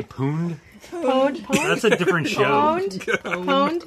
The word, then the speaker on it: pwned: It's like owned with a P. Pwned. Technically, you're not even supposed to pronounce the P, but otherwise people don't know you're referring to the purposeful misspelling unless you do pronounce the P.